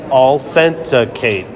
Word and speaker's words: Allthenticate: and c o of authenticate and I'm going to spell that for you so you know what it is it's all a l l thent t h n t like authenticate authenticate authenticate Rita welcome to